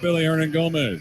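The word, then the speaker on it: Willy Hernangómez: by the name of Billy ernan Gomez it's spelled with a W but it's pronounced B and is 38-22 New Orleans Earth by 16.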